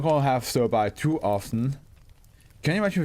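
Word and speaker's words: sterbai: Okay, we got our next offer, Stir By, I believe it's pronounced.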